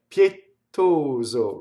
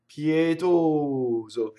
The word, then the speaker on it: pietoso: The mistake I hear is either double Z, so we have a voiced S, or I hear double T. So two mistakes, right? Pietoso, wrong. Pietoso, yeo, right? So the vowels are long. Or I hear pietoso, wrong. See, the Z is two doubled, right? Pietoso, or both, which would be horrible, right? Pietoso. So the vowels are generous.